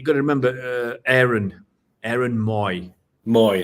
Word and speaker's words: Mooy: Moy, that's it, Moy. Yeah, because it's spelled Mooy.